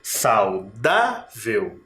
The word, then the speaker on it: saudável: penúltima e antepenúltima saudável agora o Tom mais forte está aqui no meio saudável né saudável Então ela é paroxítona terminada em L por isso que ela